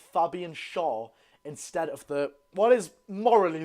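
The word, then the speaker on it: Schär: I've been getting some stick recently for saying Fabian Shaw instead of what is morally the correct pronunciation of Shaw's name, Fabian Shaw.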